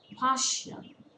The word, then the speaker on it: partial: Partial. It's a two-syllable word. Stress falls on the first syllable.